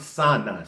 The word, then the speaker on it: sana: It's pronounced sana, spelled S-A-N-A, sana.